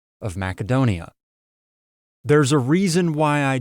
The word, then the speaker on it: Macedonia: Maybe you're not going to pronounce Macedonia with that hard sound. Maybe you're going to pronounce it with a more traditional modern English pronunciation, which is that soft C Macedonia. The reason I pronounce it with the hard Macedonia sound is because that's how Alexander the Great would have pronounced it.